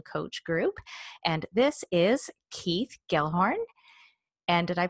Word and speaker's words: Keith Gelhorn: with the Canadian coach group and this is Keith Gellhorn and did I pronounce that right Keith you totally did okay